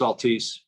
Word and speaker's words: Altice: I'm fairly sure is it Altice? Am I saying it right, Kim? It's Altice.